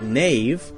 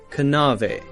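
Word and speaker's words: knave: in english were pronounced a word like nave k-n-a-v-e would have been pronounced something like kanave kanave now we have a silent k so we don't say kanu we say no knowledge nave knives we say just um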